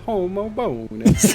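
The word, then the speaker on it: Homobonus: and I was like there's no way it's St homo bonus we're just pronouncing it wrong and someone typed in the Google speech and it goes Saint homo bonus I'll hear it that way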